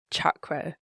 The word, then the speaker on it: chakra: And another really important, often mispronounced example is chakra. Chakra is with a hard ch, just like you use in chaturanga.